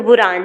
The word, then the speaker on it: बुरंजी: तो, बुराज़, जिन्हें बुराज़ कहा जाता था। आप यहां वर्तनी देख सकते हैं। सही? आप इसका उच्चारण कैसे करते हैं? ये बुरंजी हैं।